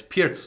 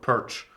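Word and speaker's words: Pirc: Normally I mispronounce the Pirts, but then people call me out and say it's Pirts, not Perch or Pig or whatever I said.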